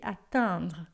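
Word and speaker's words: atteindre: O a atandra, esse e i n, você vai fazer sorrindo para sair esse atendra, tá? Atingir é atandra e atondre mais fechado. Atondra, você vai imaginar como se fosse um a posterior aí.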